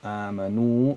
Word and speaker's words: آمنوا: So amanu meaning they. They. And the alif here is called what? It's called something. In any case, it's not pronounced.